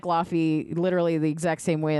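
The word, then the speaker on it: Laufey: It's like Lafy literally the exact same way as the uh God of War. God of War, but it's pronounced with a V.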